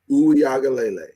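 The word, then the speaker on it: Uiagalelei: His name is DJ Uyagalele. Even though most people pronounce it DJ Uyagalele.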